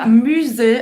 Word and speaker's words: musée: Você vai fazer a boca do U e você vai falar I. Musée. Tem 2 E's, mas esse E com acento agudo, mais um E no final, mais a letra E no final, você vai falar somente E.